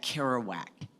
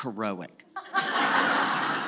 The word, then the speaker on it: Kerouac: a reference to Jack Kerouac in the first script that we decided we would never cast anyone who who pronounced it Jack heroic so that was a